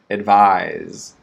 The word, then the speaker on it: advise: distinguishing the ending sound advise longer vowel sound vise okay so can you advise